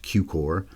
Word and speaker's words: Cukor: his name is pronounced cuor as in cucumber but then you go with the or instead of umber others that went in